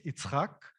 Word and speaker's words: Yitzhak: So in Hebrew, it's Yitzhak, which is Isaac for you to make it easy.